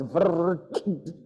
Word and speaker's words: vritti: Like the word vritti. It's V-R with dot, double T-I. I mean, it's vritti. How do you make such a sound?